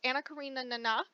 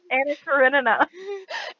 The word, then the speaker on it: Anna Karenina: um, So she's starring as Anna Karina Nana. That's how I pronounce it every time. I don't take any questions. Anna Karenina.